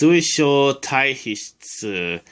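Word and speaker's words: 水晶体皮質: word to pronounce, but the first symbol is sui. By itself, it's pronounced mizu and means water. But in this word, it's pronounced sui. The second letter is sho. I'm not really sure what it means by itself. Sho. The third letter is tai. By itself, it's pronounced karada. It means body. The fourth letter is this symbol. Not really sure what it means. But in this word, it's pronounced he. And the fifth letter is tsu.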